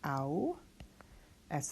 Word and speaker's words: aus: We have this AU combination, which is pronounced au. S at the end of the word is just like an S. That's aus.